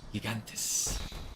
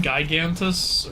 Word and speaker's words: Gigantes: I like the traditional Greek pronunciation of Gigantus. It's either Gigantes or Gigantes. Yeah. Gigantes. It almost sounds like Latin a bit. I used to always call them Gigantus or something, or Gigantus.